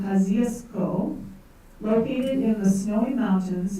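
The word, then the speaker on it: Kosciuszko: Mount kazis this is I know how to pronounce this the Polish way but that would give you the wrong idea Mount kushko or kazco located in the snowy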